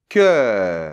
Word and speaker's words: cœur: e-dans-l’o suivi du U, ça doit être prononcé comme si c’était EU [œ]. On le retrouve aussi dans sœur, c’est-à-dire que c’est un son ouvert : [œ]. Donc on y va : CŒUR .